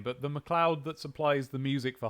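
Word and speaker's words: McLeod: Listen, I just it it's been about sometime in the last five years was when I learned that um that MC CL E O D is Mloud. Um I um but to my credit, I figured it out by myself.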